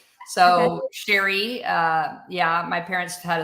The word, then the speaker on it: Cheri: And by the way, it's it's pronounced the French way, Sherry. So, Sherry uh yeah, my parents